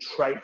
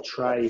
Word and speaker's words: trait: The other main type of theory of personality are what's called trait theories, or tray theories, if you want to be correcting the pronunciation.